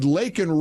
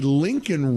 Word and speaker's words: Laken: She sat there smirking at him and handed him a button that said Laken Riley on the button and said, "Say her name, Mr.